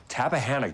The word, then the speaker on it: Tappahannock: Tappahannock, did I say it right?